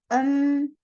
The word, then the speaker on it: 음료수: Nah, di sini bacanya bukan 음료수 아니에요. 음료수. 음료수. Realnya hilang bunyinya ya.